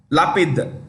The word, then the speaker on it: Lapid: R I repeat y a i r a lapid lapid lapid next Poland Poland's prime minister is